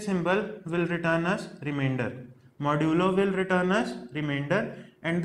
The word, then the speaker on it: modulo: M-O-D-U-L-O-U-S. This is modulus, but we pronounce it modulo.